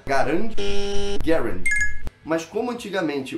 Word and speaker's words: Garand: que fala Garand ou tem gente que fala Garand. Existe uma forma certa de ser pronunciada, Garand.